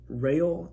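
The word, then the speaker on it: Reál: Bruce, we see him enter in and he's talking to Bella, I believe it's Rail is how you pronounce her last name.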